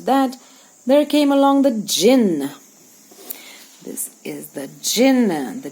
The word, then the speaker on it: jinn: and right after that there came along the jinn this is the jin the d is silent the jinn is a spirit of the